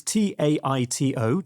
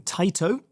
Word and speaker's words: Taito: Again, pronunciation, forgive me, but it's Taito, Taito. Taito.